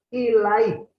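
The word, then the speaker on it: إليه: Rafa Allahu ilaih. Ini apa? Ini di bawah berarti ilahi, bacanya ilaih.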